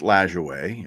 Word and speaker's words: Lajoie: And it's pronounced Lajoie.